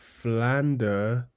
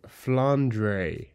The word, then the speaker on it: Flandre: pronounce Flander Scarlet as flandre okay from Toho you know Flander not flandre in Japanese it's furandoru okay but also that's